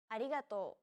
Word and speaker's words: arigato: transcribed as an r don't pronounce it like an english r listen to how risa pronounces this sound it sounds like a mixture between an r and an l sound another way of pronouncing this sound is to think of the quick tapping motion your tongue makes as it strikes the top gum ridge in words like ladder or butter altogether it's arigato okay